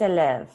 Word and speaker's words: élève: Julien est élève.